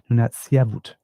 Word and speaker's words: Nunatsiavut: Nunatsiavut. There we go, pronouncing that correctly, Nunatsiavut musicians, and an agent of reconciliation.